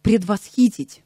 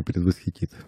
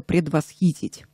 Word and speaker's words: предвосхитить: удивительные и стран звучат например правильно будет представляете предвосхитить я хочу предвосхитить ваш вопрос Ну да мы привыкли предвосхитить да В основном все так говорят но норма русского языка - это предвосхитить по приезде в Москву